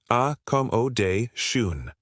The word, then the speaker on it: accommodation: Many learners forget the double c and double m in spelling but in speaking focus on the stress. A day shun.